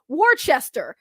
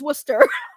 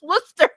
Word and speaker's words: Worcester: people because to them you're looking at like this is Wood uh Warchester. No, it's Worcester. It's Worcester. That's what it is.